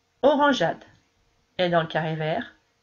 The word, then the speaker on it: orangeade: Donc si je veux entendre orangeade, je vais intercaler un E ici. Pour que le G chante J.